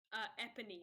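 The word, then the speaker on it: Éponine: Now tell me, how do you Character pronounce the name of the character that says that? Eponine.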